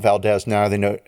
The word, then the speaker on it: Valdez: Valdez I did it's Valdes it's totally valz it is Valdes I've listened to podcast I listen to people from Valdes the name of their town and I'm still going to call it Valdez now they know how